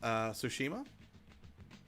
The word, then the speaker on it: Tsushima: Apparently, it's pronounced Tsushima.